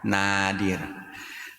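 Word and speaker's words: nādir: Ada yang mafsadatnya itu sangat kecil atau nadir. Jadi kalau ada tulisan dalam bahasa Indonesia terus a-nya dikasih atas garis atas gitu ya, I dikasih garis atas itu bacanya panjang nadir atau jarang maka tidak boleh ditutup.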